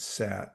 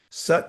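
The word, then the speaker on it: सत्: So in English we might say it means we might pronounce it sat but it's sat an a and there's a long a and a short a in Sanskrit.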